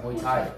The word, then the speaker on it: Muay Thai: Wait, how do I pronounce it? Muay Thai? Muay Thai.